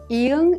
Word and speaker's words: 이응: 이응 is silent when used as an initial sound, such as in 아 and 어. When used as a final consonant, however, it has the NG sound like in the word song.